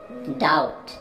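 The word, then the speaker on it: doubt: डाउट, डाउट में B silent है, बी को आपने प्रोनाउंस नहीं करना है, वर्ड है डाउट।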